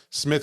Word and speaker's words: Psmith: Smith with a silent P.